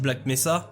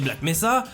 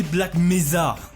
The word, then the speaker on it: Black Mesa: bien ce que c'était black mesa et ensuite mois au moins j'étais foutu de le prononcer correctement elle elle le disait black mézard pour couronner le tout